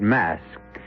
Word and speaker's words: masque: The word mask, you should know, is spelled M-A-S-Q-U-E and means masquerade.